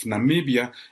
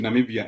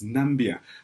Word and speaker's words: Namibia: you remember Namibia is the country Donald Trump could not pronounce back in 2017 when he met with African leaders referring to Namibia as nambia quite several times that was followed by